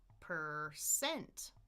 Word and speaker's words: percent: It's the second syllable which is stressed, so it's da-da, percent, percent, erse.